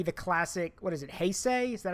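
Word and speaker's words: Heisei: probably gonna be the classic what is it hey say is that how you say it yeah it's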